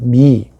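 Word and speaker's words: mihi: 삼격 미 나에게 H 발음은 주로 묵음입니다. 근데 그 대신에 발음을 길게 해야 돼요. 미.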